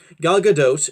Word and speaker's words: Gal Gadot: like about the film the cast wonderful cast gal gadot's at I'm is really so another name is pronounced gal gadot was great she played the